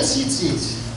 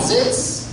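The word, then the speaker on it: ציץ: Anyone want to try saying this word? Tzitz. Tzitz. Not zitz.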